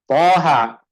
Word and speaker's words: طه: Taha.